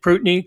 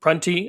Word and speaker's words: Prunty: So, and Prutney, Karan, I don't know if that's how he pronounces it. Is it Karan Prutney? Yeah, I think it's Prunty, but Prunty. Okay, yeah, Prunty.